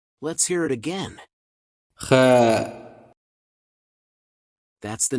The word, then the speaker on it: خاء: It's not exactly the same, but it is somewhat similar to the CH sound in the following German word.